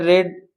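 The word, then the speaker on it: read: अब क्या है अभी यहां पर रेड बोलेंगे इसको रीड की तीनों फॉर्म सेम होती है पर जो बोलने में इसका थोड़ा उच्चारण अलग होता है।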